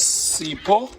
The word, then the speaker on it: Sipho: My name is Sipho. Sipho. Yes. H is silent.